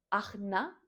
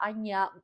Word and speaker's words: Ajna: con el que hemos de trabajar debe ser aña chakra. Agna se escribe, ¿vale? Pero se pronuncia agia, aña, una cosa así como rara y no es agna, pero bueno, da igual, ¿no?